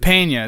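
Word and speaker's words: Peña: Pena, I think it's how you pronounce it. Pena. It's Michael Pena. Pena. It's Latino.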